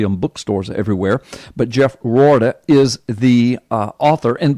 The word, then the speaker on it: Roorda: when it'll be in bookstores everywhere but Jeff rauda is the uh author and by the way his last name is spelled in case you want to look him